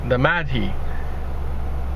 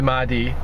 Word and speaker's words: Mahdi: the coming of the Mahdi, or if that's pronounced Mahdi, even though there's no A after the H, but nonetheless, which states